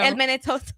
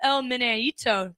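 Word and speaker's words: El Meneíto: El Menetoto. El Menetoto. Yes, that's what I call it. But it's called the El Meneito.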